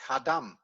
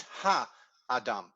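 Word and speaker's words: הָאָדָם: speech it would be hadam and that's not the case it's ha adam you pause to make clear that between the two a's there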